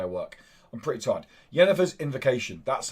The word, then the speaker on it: Yennefer's Invocation: Yennefer's Invocation.